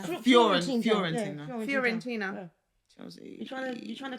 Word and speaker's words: Fiorentina: Fiorentina or Florentina? Fiorentina.